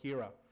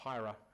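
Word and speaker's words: Hiera: wrote MCollective, also wrote called Hira, or Hira. I'm not sure Americans pronounce it differently than I do.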